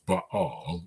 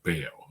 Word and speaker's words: Baal: And the worship of Baal, now I know the right way to pronounce it is Baal, but in English we usually just say Baal, okay?